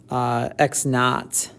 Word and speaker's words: x naught: also initial position and we pronounce that x naught so i guess i